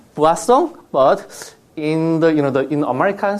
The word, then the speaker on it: Poisson: It is French. Yeah, so Poisson. But in my experience, people like the more it sounds like more likely Poisson. So we say, as a Korean say, Poisson, but in in American